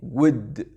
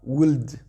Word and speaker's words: would: Donc le L, s'il vous plaît, ne prononcez pas parce que ça gâche votre anglais. Comme le verbe parler aussi, dites pas talk, he talked English, alright? Donc voilà, ce L, quand il est en fin de mot, souvent il n'est pas prononcé.